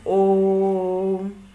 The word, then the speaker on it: ओम: लोग उच्चारण करते हैं ओम, ऐसे बोलते हैं। ओम बोलते समय देखते हैं जितना अधिक से अधिक सांस लेके जितना अधिक समय तक हम लोग बोले उतना सही उच्चारण माना जाता है ओम को।